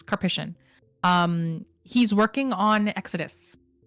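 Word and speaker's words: Karpyshyn: or sorry I think I always pronounce his name wrong I think it's kpic I Googled it once kpic um he's working on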